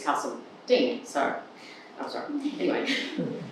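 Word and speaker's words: Carseldine: moved up from Melbourne, I pronounced it Castledene, because that's what I learned. And apparently, that is what it's meant to be called, as you would probably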